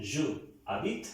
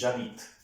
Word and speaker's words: j'habite: So this is नॉट ज आदित, this is जावित।